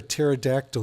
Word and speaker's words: pterodactyl: can't you hear a pterodactyl going to the bathroom I don't know is the p is silent oh I'm going to